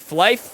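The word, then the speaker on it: Flyff: Speaking of Flyf, the one that I was into, it's spelled F-L-Y, like fly, and then F-F. So, like, Flyf, I think they put it on mobile.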